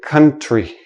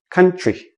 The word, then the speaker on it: country: When we have TR, TR together usually sounds like CHR. So we don't say country. We say country.